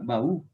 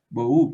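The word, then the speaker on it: בֹּהוּ: Entonces, por ejemplo, tenemos la palabra baú. Baú. Boú, perdón. No baú, sino boú.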